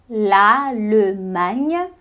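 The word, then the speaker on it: l'Allemagne: Land Repete comigo e Alemanha em francês é lalem laleman laleman então aqui a gente tem um l bem pronunciado lal manha e aqui a gente tem um GN e o GN note aí na sua parte onde você do seu caderno onde você anota coisa sobre a pronúncia do idioma que o GN corresponde basicamente ao NH do português é por isso que a gente não diz em português daria lalman lalman lalman sei lá a gente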